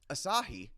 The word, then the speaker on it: Asahi: But what I found out afterwards is Asahi, if you're familiar with that, is the Japanese Sir.